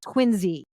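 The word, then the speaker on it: Quincy: movie that knows that the city south of Boston spelled qi NC Y is pronounced quiny they get the accents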